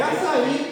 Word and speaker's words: açaí: Mas tem um acento desse tamanho, agudo no i. Por que as pessoas não respeitam aquele acento? É mesmo. É açaí, cara. Tem um acento enorme no i. Açaí.